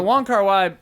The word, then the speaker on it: Wong Kar-wai: Wong Kar-wai, but on here it's Kar-wai Wong.